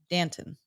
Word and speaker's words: Danton: the UCLA pronunciation guy the UCLA pronunciation guy says Danton yeah d n t t hn Danton yeah Danton dant so picture the yogurt and just add a tea in the middle yep Danton Danton yeah